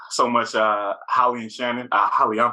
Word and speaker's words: Hollye: Hollye, I'm pronouncing your name correctly, right?